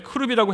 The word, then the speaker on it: 크룹: 근데 왜 크룹이라고 했느냐? 그룹 하면은 우리 영어의 그룹과 혼동이 됩니다. 그래서 표현을 그리고 원어에도 더 가까워요. 그래서 크룹이라고 남목사님께서 표현하셨고 저도 그게 더 맞는 것 같아요. 히브리어 발음도 크룹에 더 가깝다고 하시네요.